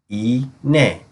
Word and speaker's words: iğne: İ, iğne, iğne. Notice how we do not pronounce the G. Instead, it helps with the following letters to be pronounced. In this case, it takes the form of a Y.